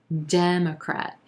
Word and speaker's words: Democrat: We've got 3 syllables here, emphasis on that first syllable and the E as in red vowel sound. Democrat. Then we've got a schwa in that second syllable and a very quick third syllable as well.